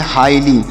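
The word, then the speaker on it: highly: ली तो इसे पढ़ेंगे हाईली यहां पर ए जी एच जो है यह साइलेंट है है मतलब हम इसे यहां नहीं पढ़ेंगे और ल वाई से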